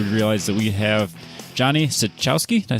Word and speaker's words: Cichowski: It's pronounced Cichowski, but nobody cares.